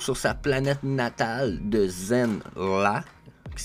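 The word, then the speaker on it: Zenn-La: De retour sur sa planète natale de Zen-La, qui s'écrit Z-E-N-N-La, Norinrad, ça se trouve être son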